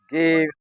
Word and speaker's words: Gave: In Danish language, Gave means gift. Gave means gift, but it's Gave.